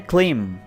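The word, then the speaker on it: climb: दोस्तों, इसका B silent, इसको आपने बिल्कुल प्रोनाउंस नहीं करना, इसे आपने पढ़ना है क्लिम।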